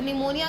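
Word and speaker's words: pneumonia: निमोनिया का P silent है।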